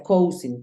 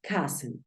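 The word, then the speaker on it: cousin: para para primos entonces hay gente que piensa que se pronuncia coing Porque así es como se escribe pero primos o primo no se escribe coing la voy a escribir aquí en el centro para que tú sepas que es una palabra neutra coing coing no se pronuncia igual como se escribe se pronuncia Ken Ken Así es como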